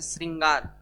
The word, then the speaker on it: श्रृंगार: ठीक है, अच्छा, इसमें प्रोनाउंस के हिसाब से जैसे श्रृंगार है ना, तो ये वाला स्र उपयोग नहीं होता है, हमेशा बार बार पूछा जाता है। कौन सा होता है? ये श्री। री का प्रोनाउंस हो रहा है ना, तो मात्रा क्या लगता है? री। ठीक है, तो इसको स्र मत पढ़ना है ना, इसको बहुत बार पूछता है।